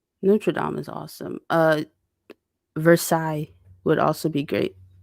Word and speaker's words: Versailles: dame is awesome uh versailles would also be great gardens are versaille so you spell it versus yeah i used to say versace even though i knew that's not what it was this place is really